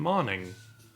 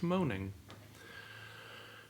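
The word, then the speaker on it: Moning: it's like you know karen manning apparently not pronounced moaning who'da thunk it it's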